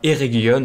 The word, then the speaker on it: Eregion: Nous sommes sur la map Eregion, hein, et pas Eregion. Hein. Je prononce maintenant bien les mots, vu que c'est une région elfique, il faut prononcer le G en Guion.